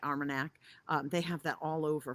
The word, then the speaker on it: Armagnac: Cognac and Manarac, I am not pronouncing it right, Armagnac.